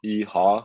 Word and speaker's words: Heo: And then my last name is spelled H-E-O, which is Hotel Echo Oscar, but it's pronounced like E-Ha, like when you're like saying E-Ha, but like H-A-W. That's how it's pronounced.